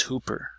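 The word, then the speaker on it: ὑπέρ: Now if you notice, it doesn't have an H, but I still pronounced it as hooper. Hooper. So the reason why I pronounce it that way is because it has a rough breathing mark, so it goes that way.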